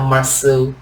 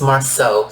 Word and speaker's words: Marsau: Some people are calling him Marsau. His name is Marsau.